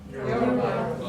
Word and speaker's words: Yoruba: Can you pronounce it? It's not difficult. Yoruba.